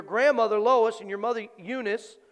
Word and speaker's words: Eunice: first in your grandmother lois and your mother eunice unice actually it's pronounced and i am persuaded that in thee